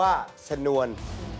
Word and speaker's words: ฉนวน: ใส่ ช้าง ข้าง หน้า ไป อ่าน ว่า สะ นวล ถ้า เป็น ฉนวน ข้าง หน้า ต้อง เป็น พอ ฉิ่ง ไม่ ใช่ ทอ ช้า ๆ นะ ครับ อ้าว